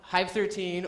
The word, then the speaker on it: Hive 13: one it is called hive 13 or i say hive one three because um it's supposed to rhyme with five one three but uh either pronunciation